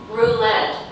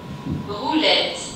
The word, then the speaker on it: Roulette: Roulette is a French wrong word. In French, it has the same idea, same spelling, but just a little bit in pronunciation. So let's check it out with Google. English first. Roulette. And the French? Roulette. Just again. Roulette. Roulette. Just a little bit different.